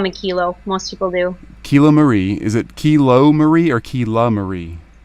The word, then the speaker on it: Kiloie: Make sure I get name pronunciations exactly right before we jump in here. So my first name is Kiloie, and last name is.